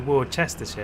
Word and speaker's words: Worcestershire: There is no Worcestershire, there's a Worcester. It's pronounced Worcester.